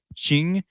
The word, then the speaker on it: Qing: wear and that is the uniform of a ching dynasty official and it's hard to describe what